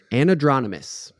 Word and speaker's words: anadromous: And now, Anadromous.